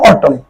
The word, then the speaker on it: অটল: শেষ করতে পার এভাবে শব্দের আদিতে নাবোধক শব্দের অচ্চারণ স্বাভাবিক যেমন দেখ অটল অটল শব্দটির উচ্চারণ অটল অর অদির শব্দের উচ্চারণ